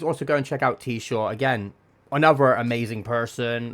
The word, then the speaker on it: Tshaw: I'm T-Shaw.